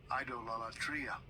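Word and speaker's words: εἰδωλολατρία: And so I will let, I don't pronounce these words anymore, so let me give you the pronunciation. Strong's G 1495, idolatria.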